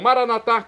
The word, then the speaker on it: maranata: E agora eu clamo maranatar, como dizemos nós católicos, ou maranata, como dizem nossos irmãos separados, os evangélicos ou protestantes. Não importa o pronúncia, o significado é o mesmo.